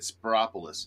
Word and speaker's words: Spiropoulos: Spiropoulos, I bet, is how you say it. Spiropoulos. That's correct.